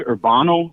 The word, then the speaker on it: Urbano: Okay, so my name's Urbano, like urban with an O at the end.